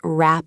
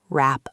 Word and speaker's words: wrap: Look at wrap up. The W in wrap is completely silent. You don't pronounce the W sound. It sounds exactly like rap. Connect it with up to say wrap up.